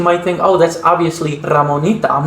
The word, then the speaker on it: Ramonita: They don't have that r phoneme in their accent, so she pronounces her name Ramonita.